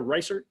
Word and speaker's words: Reisert: Is that the right pronunciation there? Reisert? Nailed it. Nailed it.